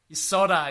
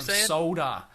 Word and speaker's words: solder: again for me solder solder yes I love the American pronunciation soda soda solder with an L yeah now the site